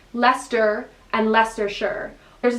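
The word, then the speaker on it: Leicester: i was so my where i am is lester and it's spelled i'll spell it on the screen because i'm i i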